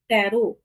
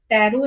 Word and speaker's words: Taro: तो जापानीज में जो जो टैरो है ना, हम इसमें इंग्लिश में टैरो बोलते हैं, लेकिन जापानीज में इसको टारो बोलते हैं, टारो।